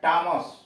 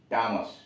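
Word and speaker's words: Thomas: यू आर, आवर, घंटा, थॉमस, टी एच ओ एम ए एस, थॉमस को H silent है, पढ़ते हैं टॉमस, टॉमस नाम है।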